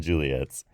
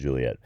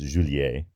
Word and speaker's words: Juliett: there and Romeos and Juliett's oh that's why there are two T's in the phonetic alphabet and Juliett because French speakers might think it's zhoo-lee-a if they and also Alfa which